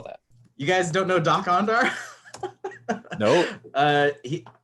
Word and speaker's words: Dok-Ondar: How do you spell that? You guys don't know Doc Ondar? Nope. It's DOK-ONDAR. Doc Ondar is the name of the Ithorian in Star Wars Galaxy's Edge, the amusement park.